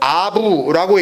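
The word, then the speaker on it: אב: 그러니까 아부라고 쓰고 알렙 베이트라고 쓰고 아부라고 읽고 아버지라고 이해를 해요.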